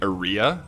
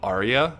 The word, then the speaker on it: Arya: And I think it was like I was saying Aria, but it was like Arya is like how it's pronounced.